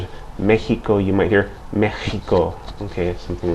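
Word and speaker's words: México: like an S um in the word Mexico you see an X but that X is pronounced like the H in hat or ham okay so Mexico and again in Spain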